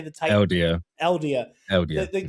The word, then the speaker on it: Eldia: Eldia.